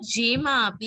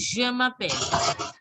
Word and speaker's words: Je m'appelle: Not Je m'appelle, it is Je m'appelle. Je m'appelle. Je, firstly Je, जैसे हिंदी में we write j ना, je जी जी.